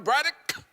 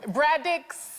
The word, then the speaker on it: Braddix: Just say the name right. Braddix. Did I do it right? No, you did not, sir. Well, say it right for me. Braddix.